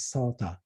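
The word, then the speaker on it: Psota: So just remember her name, like her last name is Sota, P-S-O-T-A, P is silent.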